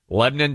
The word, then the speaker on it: Lebanon: Lebanon, Tennessee. Uh spelled like Lebanon.